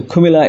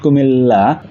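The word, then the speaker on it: Cumilla: For example, you should say the Kumilla University. Double letters are usually pronounced as one, so it's not Kumilla, rather it should be Kumilla.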